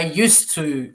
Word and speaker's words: used to: used to go okay d is a silent it's clear i think so yeah